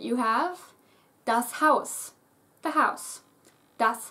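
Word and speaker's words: Haus: as you can see pronounced very very much like the English house but take care not to do that ow it's just ow you don't have that again that English twang is missing ow ow house house house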